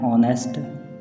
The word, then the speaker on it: honest: यूज़ एन with words that begin with a silent H. Examples, an hour, an honor, an honest man.